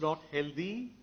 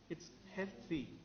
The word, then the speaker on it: healthy: helped further he healthy how do you pronounce the word without the why you say held what do you say health so why can't you simply say healthy right so when you get to meet Amitabh Bachchan wonderful user of the English language but he gets that particular word wrong in all his advertisements it's not healthy its healthy wealthy right okay - no